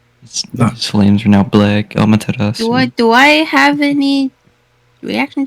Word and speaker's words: Amaterasu: Amarasu? Amaterasu.